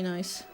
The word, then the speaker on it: Nice: In 2019, I went to Lisbon and Porto, Googled nicest places in France, and it said Annecy. Yeah, I mean, there's a city literally called nice.